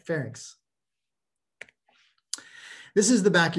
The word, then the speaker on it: pharynx: even think it but pharynx fairings ink ink like fair ink all right pharynx this is the back